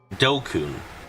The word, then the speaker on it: DQN: DQN Japanese net slang pronounced dokun used to refer to people who are stupid antisocial or delinquents.